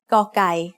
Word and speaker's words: กอไก่: The sound of กอไก่ as the initial consonant of a syllable is g. It is very similar to a hard G or an unaspirated K.